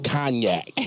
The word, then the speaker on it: Cognac: we like dark L it's not conac it's knac ohac knac so you pronounce the